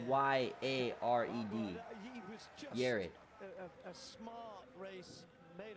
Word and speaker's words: Yared: Well, his name actually is Yared.